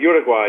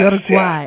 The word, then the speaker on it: Uruguay: vegetables and Vines wow I'm pronouncing you're I pronounced it so wrong I never studied Spanish you're saying you're a GU uh uay Uruguay yes Uruguay okay and now it's I see that the